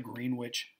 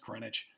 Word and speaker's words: Greenwich: prime meridian runs through greenwich england looks like greenwich it's pronounced greenwich because they're brits i don't know that's what